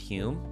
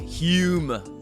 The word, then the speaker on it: Hume: my Scottish impression there Hume but uh but Scholars say that originally his last name was spelled with an O but it was still pronounced Hume but it was spelled